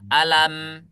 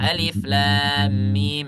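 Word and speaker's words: الم: lam mimah itu jadi kita tidak baca alam kalau kita baca alam nah itu bacaan kita disebut bacaan kalimat tapi kalau bacaannya Alif Lam Mim n itu berarti secara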